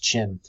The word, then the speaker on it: Qin: that is the it's both qim pronounced chin and we're going all